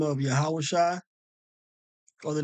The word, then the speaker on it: Yahawashi: the Savior the Messiah Jesus Christ to be yahawashi okay and so I did a previous lesson